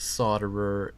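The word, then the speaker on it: solderer: I am the worst solder er in the world I'm pretty sure it's not her very nice is that not how it said so soldier what the L is silent I know I'm just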